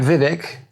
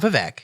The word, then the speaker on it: Vivek: Well, I like Vivek, Drain the Ramaswamy. Now, first off, it's not Vivek. It's Vivek rhymes with cake.